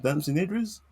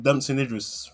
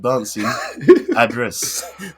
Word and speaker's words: Damson Idris: to dancing dancing idris which is what denzel actually pronounced his name as he said dancing address dancing address and then dancing idris